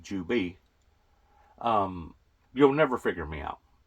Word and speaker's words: Juby: I still pronounce it basically the same, pertaining to a Jew, Jewbee, Juby.